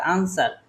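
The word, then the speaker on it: answer: তারপরে দেখেন ই আর আনসার। কিন্তু মাঝখানে আমাদের কিসের উচ্চারণ হল?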